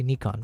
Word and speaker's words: Nikon: Sorry, I'm trying to say Nikon because we're on good terms with Nikon right now. So, I want to respect their pronunciation.